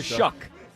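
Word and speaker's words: Shough: No, it's Tyler Shuck. Shuck. Tyler Sha. It says it's spelled S H O U G H. It's Shuck. Uh, Sha.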